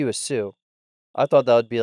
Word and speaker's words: Xu: one of their sons their last name is Sue guess how you spell it s u s u XU XU XU